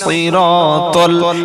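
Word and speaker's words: صراط: ইহদিনাস সিরাতাল, এই যে সই বললাম, এখানে কিন্তু সিন না আর শিনও না, এখানে সাদ।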